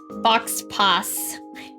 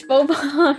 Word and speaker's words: faux pas: Wait, that's how you say it, right? Fox pass. It's faux pas, right?